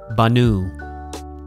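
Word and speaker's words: בָּנוּי: So look at the example from bana, masculine singular, banu. There's a yod there, but I'm not pronouncing it at all.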